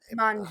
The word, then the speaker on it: Manju: I don't Manju, yes. Manju. Okay, I didn't know how to pronounce that.